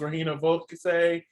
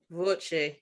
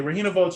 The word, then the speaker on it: Regina Voce: Mine, hands down, was Regina Volke. I loved it. Volke. How do you say the last name again? Voce. Voce. Okay, Regina Voce was definitely my favorite performance of the night.